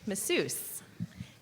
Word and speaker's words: masseuse: your word is massuse masus could also be pronounced massuse masseuse m a SS e u s e that